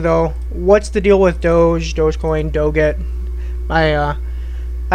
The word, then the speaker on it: Doge: that have been submitting assignments it's calling it doggy or doe it's it's Doge you can call it whatever you want I don't care but it's typically how it's pronounced Doge and then dogecoin's just a it's a meme